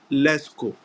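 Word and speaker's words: Lascaux: a s c au ux but it is pronounced leco now this Museum when it was discovered uh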